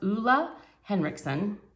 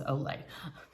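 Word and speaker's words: Ole Henriksen: month but it's the i believe it's pronounced oola henriksen i always thought it was olay i think it's oola henriksen um i've been really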